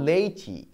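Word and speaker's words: Laici: 6 নম্বরে কি দেখতে পাচ্ছি, দেখো রিলিজিও লেইচি, উচ্চারণটা কিন্তু লেইসি নয়, উচ্চারণটা হচ্ছে লেইচি, রিলিজিও লেইচি বা এর আরও একটা টাইটেল আছে, তাকে বলা হচ্ছে এ লেমেন্স ফেথ, যেটা 1682 সালে পাবলিশড হচ্ছে।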